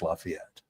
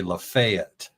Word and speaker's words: Lafayette: So locals say Liet. It's two syllables. Lafayette.